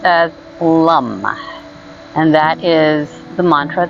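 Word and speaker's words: LAM: we'll start by chanting l-a-n which is pronounced as lum and that is the Mantra that is associated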